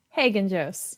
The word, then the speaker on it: Haggenjos: name I'm horrible with names last name Hagan Jose there you go as if as if I know that you pronounced it right I'm so it's so